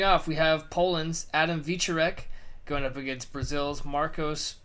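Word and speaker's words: Wieczorek: prelims I would imagine we got Poland's Adam we Zork in a heavyweight bout well face a correction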